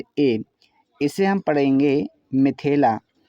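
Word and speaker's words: मिथिला: तो हम इसे पढ़ेंगे माथेला। तो माथेला उच्चारण क्या सही है? ये उच्चारण गलत है। सही उच्चारण मिथेला है।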